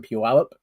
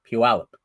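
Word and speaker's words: Puyallup: It's held in Puallup and that's how you pronounce the word pewip. Puallup.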